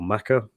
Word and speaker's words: Mecca: is a little rusty is it pronounced Mecca or Maka um is it I always assumed it was Mecca but is there a is there a different way of pronouncing that it's definitely are both correct yeah both correct okay interesting yeah and